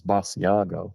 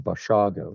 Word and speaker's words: Basiago: it's always, it's mispronounced as Basiago, Hmm. like us cheese rather than Basiago.